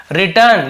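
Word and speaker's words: written: रिटर्न यानी लिखा हुआ तो डब्लू सेट होता है रिटर्न बस पढ़ेंगे डब्लू को नहीं पढ़ेंगे राइट रिटर्न ऐसे होता है रोट रिटर्न वही है तो डब्लू सेलन लेटर है तो नहीं पढ़ेंगे इसे लेकिन लिखेंगे जरूर लिखा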